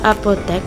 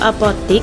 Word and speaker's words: apotek: Kata apotek merupakan kata serapan dari bahasa Belanda apotek. Dalam proses penyerapan ke bahasa Indonesia, bunyi X disesuaikan menjadi X sehingga bentuk bakunya adalah apotek. Bentuk apotik muncul karena kebiasaan pengucapan lisan, tetapi tidak sesuai dengan kaidah ejaan baku.